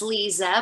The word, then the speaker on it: Liza: hello everyone it's um it's actually pronounced lisa but it is spelled liza um i am the